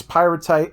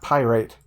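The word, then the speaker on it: pyratite: me in the butt so now i have i know for sure that it's pyrotite and not pyrite yep it took me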